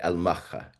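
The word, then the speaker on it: المخا: was shipped out through a port that was pronounced in Yemen, Yemen Arabic, al- Maka. You pronounce it mocha.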